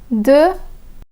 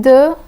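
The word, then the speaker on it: deux: De and these. De and these. The X in de is silent, but the X in these is pronounced.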